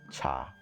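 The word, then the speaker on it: 茶: chinese lesson for you in cantonese you pronounce tea as cha around the tang dynasty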